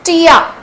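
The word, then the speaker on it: tía: t and in Spanish it's Tia Tia Tia it's like an any in English name Tia Tia aunt is Tia simple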